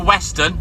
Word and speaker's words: Henry Weston: the Depo it is called Henry Weston and that's spelled not like a Weston it's Weston yeah wst t o NS Henry